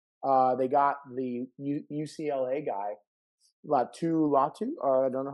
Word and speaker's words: Latu: They got the UCLA guy, Latu. I don't know how to say it. Latu is what Cypress. Latu.